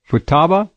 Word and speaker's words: Futaba: The former mayor of, how do you pronounce F-U-T-A-B-A? Futaba?